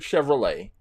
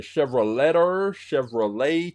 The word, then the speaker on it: Chevrolet: they took the word Chevrolet and then they put or on the end well when you pronounce Chevrolet you don't pronounce the T so when they put